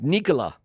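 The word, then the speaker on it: Nikola: It's Nicola. Yeah, Nicola. We've known that one for a long time, but none of us say it like that. Yeah, cuz it's Nola. Everybody calls him Nola, but he calls himself Nicola. And it's like that, too. It's like Nicola. It's like quick like that.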